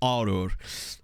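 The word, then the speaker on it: Għargħur: This is Arur. I'm sorry, Maltese. I'm sure I'm still butchering the name, but I believe it's pronounced Arur. Because there's two silent letters, literally two double silent letters in this word.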